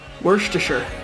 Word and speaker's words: Worcestershire: us our sign off sure always remember it's pronounced Worcestershire